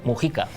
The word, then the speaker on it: Mujica: José Mújica, pero que creo que ellos dicen Mujica. Sí, porque la pronunciación de los apellidos cuando llegan a América, apellidos vascos, suele cambiar. Y ahí llaman siempre Mujica.